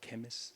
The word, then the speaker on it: Kemeys: It's pronounced Kemis. It's Welsh.